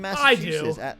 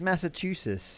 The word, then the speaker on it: Massachusetts: There's 2 T's in there, and you skip them. You skip them both every time. I feel like everyone says Massachusetts. Yeah, they have to. They say it wrong.